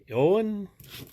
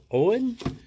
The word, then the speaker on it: Eoin: Oh, got a couple of hats going to, I don't know how to pronounce this, Mr. O'Donnell. It's E-O-I-N. Eoin? Owen? Owen?